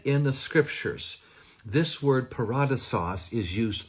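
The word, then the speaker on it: παράδεισος: The word is actually pronounced in the Koine Greek, paradisos, and it is a borrowed word from the Persian language.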